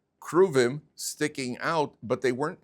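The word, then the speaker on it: כרובים: How do you say it in English? Cherubim, that's how they pronounce it? The cherubim. The cheruvim.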